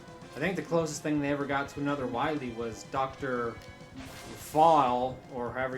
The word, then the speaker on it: Wily: I know, but like, even the English spelling I think is supposed to be pronounced like vile because of, you know, the way it is spelt. I think it's still supposed to be Dr. Vile here, just with the spelling.